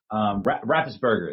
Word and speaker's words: Raffensperger: Raffensperger, there we go.